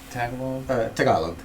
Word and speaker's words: Tagalog: But how do you pronounce Tagalog? Tagalog.